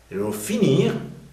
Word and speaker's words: finir: lo ven s cambia Porque finir si se pronuncia r mientras que los verbos que terminan en r no se pronuncia la r al final Entonces se aplica la